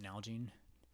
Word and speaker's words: Nalgene: I don't know if I can mark it, but Nalgene is how you pronounce it.